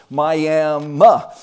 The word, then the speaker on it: Miami: But the technically the right pronunciation apparently of this little town is Miami, and Main Street, right